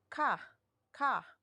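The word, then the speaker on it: 각: Yeah, double consonant plus a. So this is being pronounced as ka, ka. So the 10th sound, right? And then we will be putting the ending consonant, and this sound would be kak, kak. All right. All right. So again, it's cook sound. So it's gonna be gak, ok, and then kak.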